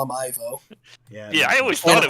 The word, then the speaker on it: Ivo: was robotnik yeah he he it should be pronounced evo but i'm always going to call him ivo yeah i always thought it would pronounce divo